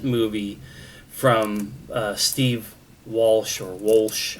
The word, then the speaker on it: Wolsh: So this is the most recent movie from Steve Walsh or Walsh. I don't know what the correct way to pronounce it is because it's Wolsh, not Walsh.